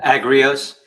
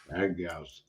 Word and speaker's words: Agrios: It's Agrios, I say it correctly. How do you say your last name? Agrios. Agrios.